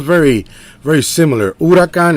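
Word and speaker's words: huracán: sounds very very similar urakan in Spanish and it's spelled the same way it's just not two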